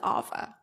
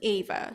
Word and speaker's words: Ava: example my name is I spell it Ava I pronounce it Alpha some people they pronounce it Ava so it's very hard